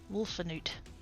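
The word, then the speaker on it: Wolfenoot: Oh, I've been saying it wrong. There's an in there. Wolfanoot.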